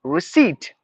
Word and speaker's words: receipt: word re re no it's like receip R I re seat s e e t seat receipt that is how we have to pronounce this word receipt reconciliation reconciliation no reconciliation